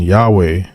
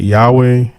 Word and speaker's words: Yahweh: forward it says while inclining to view the pronunciation Yahweh as the more correct way we have retained the form Jehovah because of people's familiarity with it since the 14th century so wasow is admitting that Yahweh is the more correct way to pronounce almighty